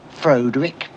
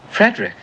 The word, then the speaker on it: Frederick: Do you also say Froderick? No, Frederick. Well, why isn't it Froderick Frankenstein? It isn't, it's Frederick Frankenstein. I see.